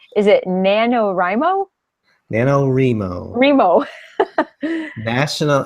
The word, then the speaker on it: NaNoWriMo: novel writing month and I don't know why r I teen would be pronounced remo but it's boy sort of pronounced nanowrimo nanowrimo ok so nanowrimo runs from